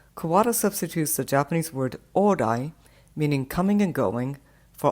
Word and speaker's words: ōrai: Although the O in orai and the A in all right are not the same vowel, they nevertheless are both back vowels and thus close enough to sound similar with distorted pronunciation.